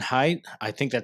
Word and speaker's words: Haidt: Jonathan Haidt, that's how I've pronounced his last name.